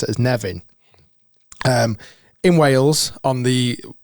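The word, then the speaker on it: Nefyn: spelled almost like nephin but the the locals pronounce as Nevin um in Wales on the there only your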